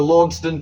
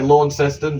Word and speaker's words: Launceston: jug there with the Launceston, Tasmania coat of arms. I know most of us say Launceston, but the place in Scotland with the same name's pronounced Launceston, so that's what I'm going with.